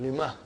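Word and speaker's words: لِمَ: So ha will come as a silent, lima. You are not pronouncing it because there is a sukoon on it.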